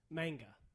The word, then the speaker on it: manga: subgenre of work is manga. Did I even pronounce that right? I don't know. Probably. I don't know. I Manga. have almost. It's not mangia. It's not pizza.